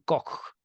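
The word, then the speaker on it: Koch: delimitación del triago triángulo de cock o de coach se escribe coach se pronuncia anillos fibroso derecho de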